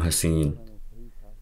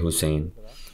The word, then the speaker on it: Husain: Namun di sini namanya diucapkan sebagai Daud ibnu Husain, bukan ibnu Hasin. Hal ini bukanlah sebuah koreksi, melainkan saya menyebutkannya sebagai aspek tambahan untuk pengetahuan. Saya membacanya dengan tepat, saya membacanya sebagai Husain.